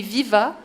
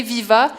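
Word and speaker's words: Vivats: Bien, je me disais, tout le monde ici, là, vous savez qu'on a un événement qui s'appelle les Viva, oui.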